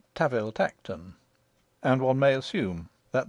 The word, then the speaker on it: Tanville Tankerton: We are told in an authorial footnote that the Duke's family name, spelt Tanville Tankerton, is to be pronounced Taville Tacton, and one may assume that the name of his country seat follows suit.